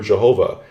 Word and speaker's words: Jehovah: The name Yod-He-Vav-He, which people pronounce as Yahweh or Jehovah.